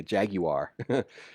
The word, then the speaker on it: Jaguar: We're not out here to to buy the Taj Mahal and drive a Jaguar, but I wanted to say that like the British say, Jaguar.